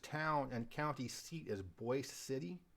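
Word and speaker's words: Boise City: and county seat is Boyce City it looks like Boise but it's pronounced Boyce and it's also home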